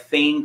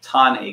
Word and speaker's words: Thane: a place called tane Creek it looks like Thane Creek but we could but it is pronounced ton a creek and basically tane Creek is uh an